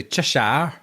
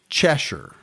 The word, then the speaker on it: Cheshire: Always want to say Cheshire. I I think it's Cheshure, but I'm not positive.